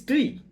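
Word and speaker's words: twi: word like, for example, tui. Tui is water. When we write tui in the Bengali script, it sounds as toi. But it is not toi, it is tui, right?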